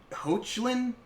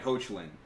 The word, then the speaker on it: Hoechlin: Tyler Hoechlin? I think I'm saying that right. Hoechlin.